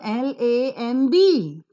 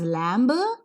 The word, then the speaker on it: lamb: I have given you l a m b m and b wherever they occur in the spelling birth sound is always silent so you pronounce this not as Lambo but it is lamb La that's it so